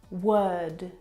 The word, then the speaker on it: word: but this is incorrect the vowel sound is actually as in her work world word this is your eyes